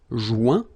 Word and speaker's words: joint: Final T not pronounced. Joint. So when you get this O-I-N combination of letters, you get the sound ouin.